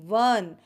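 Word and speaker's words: one: एन नहीं लगाना है, आपको ओ एन ई वन pronunciation करना है, और आपको प्रोनाउंसिएशन करना आना चाहिए।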